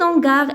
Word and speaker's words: hangar: Cet hangar est spacieux. Hangar, c'est un nom masculin. Donc, on va mettre cet. Commence par H muette.